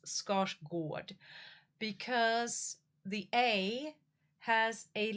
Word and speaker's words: Skarsgård: But scars scard is actually pronounced scotch gourd. Scotch gourd.